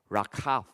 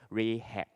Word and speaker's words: Rachav: Okay, so today I'm still going to adopt the English pronunciation, Joshua, and they eventually entered a house of a prostitute by the name of Rachav. Okay, but in our English Bible we read as Rahab.